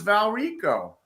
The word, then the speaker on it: Valrico: And then I'm like, I'm looking at it, and it says Valrico. Is that how you pronounce it? Yeah. Valrico? Yep.